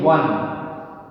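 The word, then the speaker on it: one: है ओ, ठीक है, लेकिन उच्चारण क्या हो रहा है इसका, इस शब्द का उच्चारण हो रहा है वन, वन। वो व्यंजन से हो रहा है, वह एक व्यंजन है।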